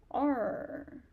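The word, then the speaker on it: 二: How about uh R. R is falling tone. So, R.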